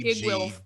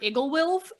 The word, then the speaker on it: Iggwilv: In my head, I call her Igglewilf, and there's not a third syllable in there, and I know it.